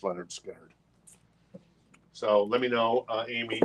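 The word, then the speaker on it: Lynyrd Skynyrd: survivors Street survivors yeah and this is pronounced Leonard skinnard so let me know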